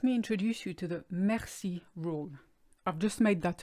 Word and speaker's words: merci: I'm going to explain the mercy rule states that if a word contains an e which is immediately followed by two consonants in this instance maxi with an and RC the always sounds like an air which is why we don't say mercy we say maxi and here it is